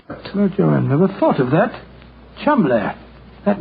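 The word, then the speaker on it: Cholmondeley: that the name CH is in no way pronounced the way it is I never thought of that chumbler that name spelled c h o l CH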